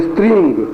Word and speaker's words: स्त्रीं: फिर स्त्रींग, हुम फट, इसमें ओ में म की ध्वनि है, हुम में म की ध्वनि है, बाकी रींग और स्त्रिंग में ग की ध्वनि है।